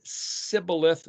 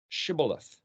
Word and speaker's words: shibboleth: tribes and it was they knew that whoever pronounced the word sibileth versus shibboles shibboleth well they just learned that's the way you